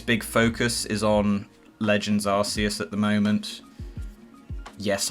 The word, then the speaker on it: Arceus: focus is on legends arceus at the moment yes i pronounce it arceus not arceus don't get you knickers